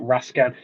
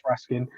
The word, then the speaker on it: Raskin: this out we're asking but people pronounce it rascan I've heard a few people say rascan um as far as I know it's Raskin um you know I